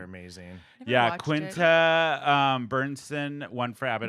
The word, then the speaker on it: Quinta Brunson: Quinta Bernson won for Abbott Quinta Brunson, Elementary.